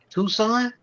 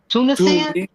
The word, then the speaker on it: Tunisia: Tucson.